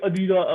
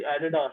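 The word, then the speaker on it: Adidas: नहीं, but pronounce तुम अलग होते प्रोनाउंस हैं बहुत, तुम कहती हो अदीदा, पता नहीं क्या वो अदीदा, लेकिन मुझे समझ लग रही एडिडास, ठीक है, लेकिन वो,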